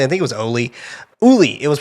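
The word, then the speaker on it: Óli: They didn't pronounce it Ollie. I think it was Oli. Uli.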